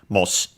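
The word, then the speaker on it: もし: This moshi, it should be, by the way, yes, accented on the first syllable, so moshi.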